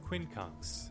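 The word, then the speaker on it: quincunx: conks how do you say it one sec Quinn kuns I said it right Quin kks an arrangement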